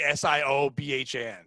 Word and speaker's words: Siobhan: Siobhan. Siobhan, but like the Siobhan.